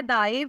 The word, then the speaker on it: Daib: नाम है दाइब। स्पेलिंग है DAIB।